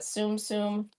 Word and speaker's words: Tsum Tsum: Tsum Tsum, and it has the little Disney characters on